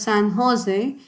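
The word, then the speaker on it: San José: u.s recently the san jose sorry it is pronounced as san jose state university of which they were former students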